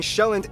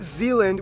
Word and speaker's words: Sjælland: With the largest island being Sjælland, not Zealand, which is not to be confused